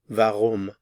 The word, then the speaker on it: warum: why is v v vum again notice the pronunciation of the w v vum we also